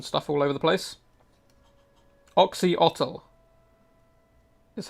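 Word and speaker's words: Oxyotl: Oxhotl is how it's said.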